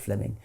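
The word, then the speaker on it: Fleeming: Jenkin was simply it's written Fleming but is pronounced Fleming um Fleming Jenkin was simply saying manifest facts are impossible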